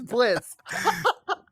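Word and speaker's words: Blitzø: what oh my God the O silent the oh is silent it's Blitz yeah I love I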